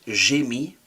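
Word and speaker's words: mis: M I s is silent. Jimmyi I put or I placed to be is quite useful when we start to see the passive in French.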